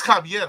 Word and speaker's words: Xavier: It's Javier, huh? It's Javier, right? If I'm not mistaken, in Latin speaking, I guess the X is a J, right?